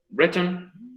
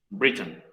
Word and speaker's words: Brereton: ¿Caché que su apellido se pronuncia de dos formas distintas en inglés, dependiendo del acento? Breton, Britain. Sí. Y nosotros, Brereton.